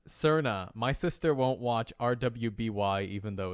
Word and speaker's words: RWBY: like no it's not is it the rwby or ruby or i don't know you do pronounce it ruby but edgar how did